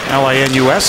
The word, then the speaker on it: Linus: L-I-N-U-S and not Linus, as it is pronounced in Sweden, because he said he thought Linus was cooler.